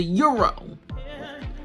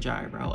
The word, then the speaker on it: gyro: it's not it's a euro or a no it's not pronounced your gyro I'm not even gonna perpetuate that it's a euro I love it it's